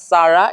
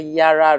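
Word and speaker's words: Yarra: River it's absolutely correct but it's just not Sara it's a Yara River pronunciation so yeah give Round of Applause to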